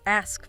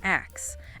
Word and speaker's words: ask: Yep, like ask versus axe. Axe is common in some dialects, but generally seen as non-standard.